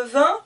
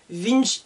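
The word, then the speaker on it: vingt: 18 19 20 attention pour le vin pareil ici j'écris un g mais je n'entends pas le g20 je ne dis pas vince ou quelque chose comme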